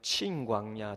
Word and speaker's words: 신광야: 맨 위쪽에 있는 우리가 여러분 친광야, 정확한 발음은 친광야라고 했던 그 신광야입니다.